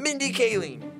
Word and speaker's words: Mindy Kaling: Mindy Kaling. Is that how you pronounce it? Yes, okay.